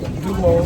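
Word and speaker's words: Duomo: tayo sa dumo Milano Dumo Milano. Dumo pala ang pronounce doon dumo yon dumo.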